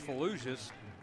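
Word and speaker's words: Fellouzis: that was a good play by number 32 Braden fallujus Fallujah spelled f-e-l-l-o-u-z-i-s pronounced fallucious six foot two hundred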